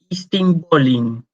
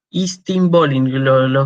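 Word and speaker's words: εἰς τὴν πόλιν: expresión griega que era istinpolin. Lo pronuncio con la pronunciación bizantina, porque de hecho los turcos toman la capital, Constantinopla, que era bizantina, griega medieval. Estambul viene de Istinbolin. Istinbolin.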